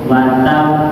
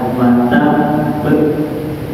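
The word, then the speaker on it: وَتَبَّ: Wat be jangan gini wat. Nah itu salah bacanya karena tasdidnya hilang. Kalau baca itu watab itu tasdidnya hilang.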